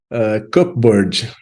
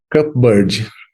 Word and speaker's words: cupboard: Cupboard. This word also has a silent letter. You can try to say it again. Cupboard.